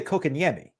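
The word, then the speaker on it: Kotkaniemi: Stop saying cock on television, please. That's not how it works. It's kokanyemi, right? Sometimes I put like a little accent on it. Kokanyemi. Like isn't that how you say it?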